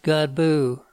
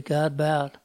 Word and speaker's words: Godbout: Well, the name Godbout should be pronounced Godbout. But when I was growing up, my dad got tired of explaining Godbout to people that he just changed it to Godbout.